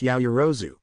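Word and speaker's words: Yaoyorozu: It's pronounced Yaoyuru, fool.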